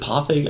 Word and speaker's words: Parfait: Is it Parfait? I shouldn't pronounce the R, should I? It's Parfait. It's Parfait Girls.